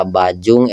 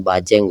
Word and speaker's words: Bajeng: raja yang pernah memerintah daera bajung ejaan sebenarnya adalah daerah bajeng Goa Makassar hikayat sulatus asalitin bertulkan Jawi dengan ejaan ba Alif Jim nga menyebabkan sebutan menjadi bajung tidak pernah wujud di